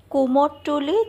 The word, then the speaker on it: কুমারটুলি: কুমোরটুলি, যা এখন আমাদের কথার উচ্চারণে হয়ে গেছে কুমারটুলি, এটা কলকাতার উত্তর ভাগে অবস্থিত একটি পাড়া।